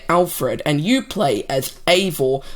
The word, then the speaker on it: Eivor: and you play as Eivor. I'm guessing that's how it's pronounced, because that's how the director pronounced it in an interview, but it's spelt like this. So, really, it's anyone's guess.